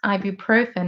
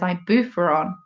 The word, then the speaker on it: ibuprofen: It's like when my mum used to pronounce ibuprofen as ibuferon.